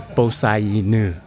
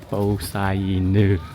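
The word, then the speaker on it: Po Sah Inu: So we just learned the proper pronunciation of this place is Bosainu. Bosainu.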